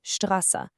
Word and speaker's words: Straße: When st is at the beginning of a word or syllable, it's pronounced st, like in Straße.